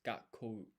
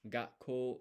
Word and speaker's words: 学校: So it's gakou. Gakou. And actually, let's just listen. 学校、学校、 Okay, so you don't pronounce the U at the end. 学校、 Gakko, but you can hear the break before the ko.